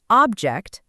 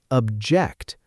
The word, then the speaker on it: object: Try these three words out loud. record, object, and contract, first as nouns. Now, say them again as verbs. Record, object, contract. Did you feel the stress move?